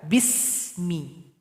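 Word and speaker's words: بسم: yang pertama di sini ada huruf Sin jangan dipantulkan enggak boleh dibaca bisa harusnya dibaca Bismi jadi ya alirkan Bunyi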